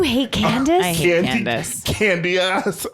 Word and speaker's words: Candiace: Candy ass, as her name is spelled. Her name is spelled Candiace. That's not Candace.